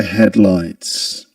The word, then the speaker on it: headlights: Glow of the headlights. Glow of the headlights. Headlights. We in the word headlights we accent the first um syllable head.